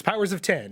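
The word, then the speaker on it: Powers of X: House of X and Powers of 10, and they're going to run until there's Powers of 10? It's Powers of 10. It's written with an X, but they have said it's pronounced 10.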